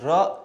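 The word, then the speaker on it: ر: Okay, and ra, it's pronounced, of course, like the R, like the Spanish R.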